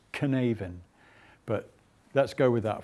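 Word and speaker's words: Cynefin: which is spelt c-y-n-e-f it's a welsh word i think it's pronounced canaven but let's go with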